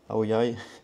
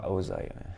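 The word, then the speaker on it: áo dài: Aoyaïai. Aosï. Ah oui, dans le sud. Dans le sud Aoyaï et dans le nord Aosaï. Je savais pas que la prononciation était différente.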